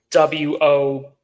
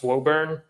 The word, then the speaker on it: Woburn: He got a house in W-O-B-U-R-N. So I thought it was Woburn. It's Woburn.